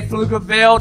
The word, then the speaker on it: Pflugerville: When I say Pflugerville, the P is silent.